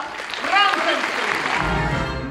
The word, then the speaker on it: Frankenstein: Il mio nome si pronuncia Frankenstein!